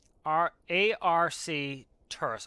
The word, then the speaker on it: Arcturus: A-R-C Turus. Arcturus is better.